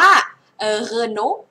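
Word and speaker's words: Renault: ใกล้ เคียง ที่ สุด เฉลย อ่าน ว่า เอโน เอ เอน นะ คะ เอโน โอเค ดู เฉลย ไม่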